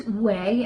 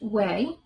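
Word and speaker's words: OUAI: great brand and that's we and that's o u AI it's pronounced we it's their leave-in conditioner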